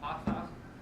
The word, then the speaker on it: patah: Patah is the correct pronunciation.